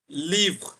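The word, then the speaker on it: livres: এটা, এটার প্লুরাল ফর্মটা হচ্ছে লিভ। এই এসটা থাকবে, আবার এস এর উচ্চারণ হবে না। এস is silent here.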